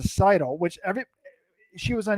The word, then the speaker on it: Seidl: name it's not like if i say seidel instead of seidl which every she was